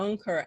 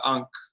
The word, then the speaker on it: ankh: get the pronunciation right is it the anchor anchor what is it depends on what country you're from it's ankh now can you look